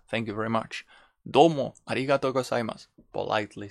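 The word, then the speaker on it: ありがとう: is thank you okay the things usually is arigato but we can be extended arigatou gozaimasu thank you very much domo arigato gozaimasu politely saying thank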